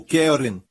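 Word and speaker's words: קרן: desta aqui Caron Caron a palavra Hebraica para ela é Karen ou querem é assim se pronuncia em hebraico querem se o seu nome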